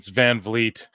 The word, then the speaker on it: Van Vliet: Dude, he butchered that name. It's Van Vliet.